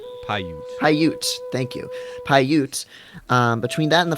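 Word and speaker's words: Paiute: know they said p pyute pyute thank you pyute um between that and the 500 pyute being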